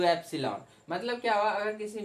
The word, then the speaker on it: epsilon: Okay, इसको सीधा सीधा एप्सिलॉन, तो EPSILON इस तरह से आप इसको प्रोनाउंस कर सकते हैं। तो एप्सिलॉन कह दिया, और ये क्या कहलाया, permittivity of medium, that medium.